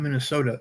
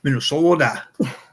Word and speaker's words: Minnesota: We're saying it wrong. It's not Minnesota. It's Minnesota. It originally specialized, Nordic ware